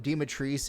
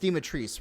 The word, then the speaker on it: Dimitrescu: Because in the original Romanian, Dimitrescu is pronounced Dimitrescu, right? And the Japanese. No, it's pronounced. So. It's pronounced Dimitrescu, right?